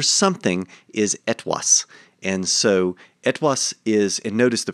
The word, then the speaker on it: etwas: And so etwas is, and notice the pronunciation there, right? This is the Middle High German pronunciation, so it's not the modern German etwas. This is etwas, because they're pronounced differently.